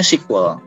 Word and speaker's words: SQL: standarnya nah basah sandarnya namanya sequel SQL ya atau dibacanya sequel SGL ini ya yang menjembatani